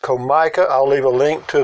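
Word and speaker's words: Comica: anyway the name of the product is Co mi CA and I'm sure that's pronounced Co Micah I'll leave a link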